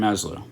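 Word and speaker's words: Maslow: psychology of being by Abraham maslo or maslo so Abraham mlo I believe is how you pronounce it I'm not really good with names it's Abraham maslo okay sorry for the mispronunciation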